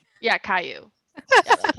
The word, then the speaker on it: Caillou: pronounce that fucker's name? Yeah, Caillou.